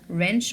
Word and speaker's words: wrench: Wrench also, we will not pronounce it.